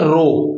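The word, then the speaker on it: ρ: को हम क्या बोलते हैं इस कांस्टेंट को प्रोनाउंस क्या करते हैं रो ठीक है रो ठीक है तो रेजिस्टेंस का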